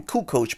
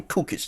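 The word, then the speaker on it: Kukoč: like say some shit like it's Tony Kukoc, but you'll rhyme with Tony Kukic to get the rhyme off, or you say That's Chicago.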